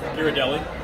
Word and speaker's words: Ghirardelli: How do you pronounce it, Dad? Ghirardelli.